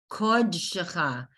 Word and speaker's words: Kodshecha: Kodshecha. Okay, whenever you see that kamatz looking Shecha. bigger, Kodshecha. Kodshecha.